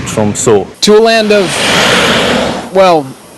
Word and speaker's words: Tromsø: It's pronounced Tromsø. The letter is Norwegian, so English people pronounce it Tromsø.